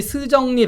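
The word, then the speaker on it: 石正丽: 이름이 스정리 박사예요. 네. 올해 55살인데 한국식 발음하면 석정리입니다.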